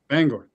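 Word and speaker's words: Bangor: Bangar. Bangar. Oh, okay. You actually say it like a like a normal American.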